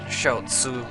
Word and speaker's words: Xiaozi: It's Micole Verszi or I think he pronounces it Shaoo.